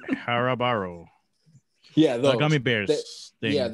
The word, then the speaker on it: Haribo: It's how do you say the Harbro? Is that how you say it? Harbro like eggs? The Haribo.